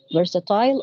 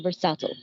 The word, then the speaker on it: versatile: are subtle or versatile you can even pronounce it in either ways it's American and British English versatile or versatile so some activities are